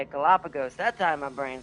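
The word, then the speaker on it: Galápagos: Galapagos.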